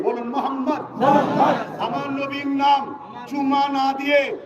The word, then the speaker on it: মোহাম্মদ: সবাই একবার বলুন মোহাম্মদ আপনারা এবার উচ্চারণ করুন মোহাম্মদ খেয়াল করে দেখুন নবীর নাম নিলে দুই ঠোটে ঠোট ঠেকছে বলুন মোহাম্মদ আমার নবীর নাম চুমা